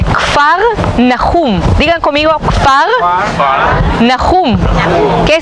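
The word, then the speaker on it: כפר נחום: Capernaum viene de dos palabras en hebreo, que se dice Kfar Nahum.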